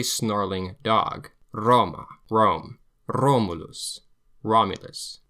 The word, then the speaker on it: Romulus: R is trilled. The Romans called this the literacina the dog letter because it sounds like a snarling dog. Roma Rome Rulus. Romulus V before vowel, like